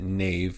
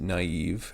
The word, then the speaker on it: naive: probably the word naive so you don't pronounce it Nave you pronounce it naive and that little diuresis